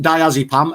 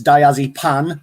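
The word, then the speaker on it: diazepam: hmm okay then uh mispronounced diazipam as diazypan p-a-n which i thought was [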